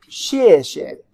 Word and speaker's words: 谢谢: Now if you want to say it very formal, 谢谢. You want to emphasize the last one. But it's the regular one is just show you thank you. Second tone could be weaker.